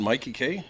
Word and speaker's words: Mikey Kay: it's my Mikey K Mikey so it's not making it's not Mickey you don't know it's be no it's because you're Canadian so you don't know how to say my name but I love